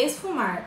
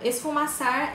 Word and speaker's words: esfumar: essa palavra esfumaçar mas o jeito certo de falar quando você vai fazer no olho é esse fumar é um jeito certo é esfumar mais uma dica de português não é esfumaçar é esfumar acessa na boca tá